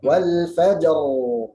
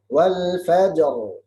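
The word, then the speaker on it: والفجر: Tidak hilang ra, harus baca ra. Ya, wal fajr, ar, wal fajr, walayalin ashr. Ini yang salah, wal fajr.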